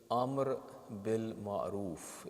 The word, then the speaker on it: Amr bil Ma'roof: they say these words, they mispronounce the phrases. So it is Amr bil Ma'roof.